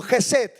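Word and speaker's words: חסד: Pero hay una segunda palabra de gracia en el hebreo que es Gesed. Digan conmigo, Gesed. Más fuerte. Esta palabra se pronuncia casi 250 veces en el Antiguo Testamento.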